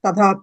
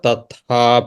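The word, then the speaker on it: तथा: like we say yadha raja, tadha praja, That is wrong. The is it wrong? pronunciation is wrong. Pronunciation is wrong. So it is Okay. yatha. Okay. So it should be yatha raja tatha praja.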